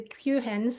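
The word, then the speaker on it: QHIN: There's, um, the qualified, the Q hens as they're pronounced.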